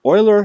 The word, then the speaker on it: Euler: Oiler paths and oiler circuits. Notice this is pronounced oiler like an oil can or the Edmonton Oilers.